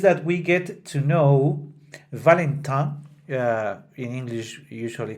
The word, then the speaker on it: Valentin: our previous programs, that I personally don't like to change the pronunciation of a name that it's in the original language only because I am speaking in another language. Therefore, I will not be saying Valentine that often, and I will keep calling Marguerite, still Marguerite, and not the English pronunciation of all the names that are part of it.